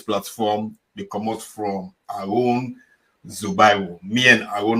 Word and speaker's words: Aroun Zubairu: Aroun, please tell who that's na Aroun Zubairu. If I can pronounce him properly, I stand to be corrected. Yes, my name na Aroun Zubairu.